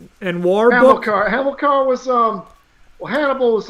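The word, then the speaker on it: Hamilcar: start with the hammer and now you can pronounce it better a hammer Hamill core and war book are hamilkar was um Hannibal was like the Carthaginian general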